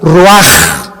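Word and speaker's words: רוח: exhaló Isaac el Roach así como suena se pronuncia la c en hebreo como J raj se les halló y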